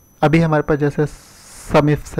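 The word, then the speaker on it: SUMIFS: Database function आप यूँ समझिए कि अभी हमारे पास जैसे समिफ्स है, कई लोग इसको प्रोनाउंसिएट करते हैं समिफ एस।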